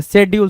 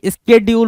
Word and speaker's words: schedule: शेड्यूल नहीं होता भाई, स्केड्यूल होता है। क्या पढ़ते बोलते प्रोनाउंसिएशन कई बार आप ऐसा बोल देते हो जो कि नहीं होता है, ठीक है, स्केड्यूल होता है, शेड्यूल नहीं होता है, ठीक है।